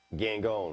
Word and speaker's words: Gangone: and Slick Wagner Brown and Anthony Gangone. Gone. Gangone. I was going to pronounce that the French way.